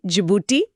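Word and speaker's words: Djibouti: डी से जिबूटी, इसमें D silent होता है।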